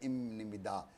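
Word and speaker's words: 입니다: तो ये फार्म इन प्रोनाउंसिएशन कि जो मैं आपको बता रहा, ये बी अप इमिदा तो प्रोनाउंस है इमिदा, तो मियम और नियन मिलते हैं तो भी एम ही बनता है।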